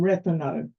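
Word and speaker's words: Rethymno: h y m n o and that is pronounced um so the third biggest city is um reano and uh it is um it's also a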